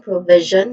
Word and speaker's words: provision: there's three distinct sounds starts with pro. Now the o in the first syllable is you know awasan it's a typicallyan as unstressed vowel sound. Now the primary stress is on the second syllable v which has a short e sound. Uh the combination in the init in the final syllable is pronounced as z. It's the voiced equivalent of sh sound.